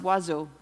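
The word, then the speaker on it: oiseau: for bird in french it's pronounced wazo wazoo i love that word actually it contains every single vowel it only has two syllables you could say it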